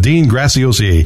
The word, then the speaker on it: Dean Graziosi: But I don't know how in the world you say it, let alone spell it. It took a long time to figure out how to say it, Dean Graziosi.